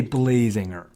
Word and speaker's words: Blazinger: He's actually made from Blaz. So it's kind of weird to call him Blazinger, but then again, that is how you would spell it. So we're going to say Blazinger.